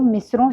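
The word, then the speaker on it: مصرعے: सबसे पहली बात कि शेर दो मिसरों से बनता है। मिसरे, उसका प्रोनाउंसिएशन देख लें, मिस्र और ए, मिसरे।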